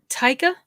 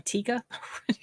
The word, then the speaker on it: Taika: watching it two um taika taika i think that's the right way to say his name because initially i was calling him tikka taika i feel like